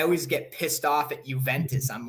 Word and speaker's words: Juventus: There's no J in the Italian alphabet, and the fact that it makes a Y sound tells me they got it from a Yugoslavic area as opposed to one of the more Spanish areas that would pronounce it as a huh sound.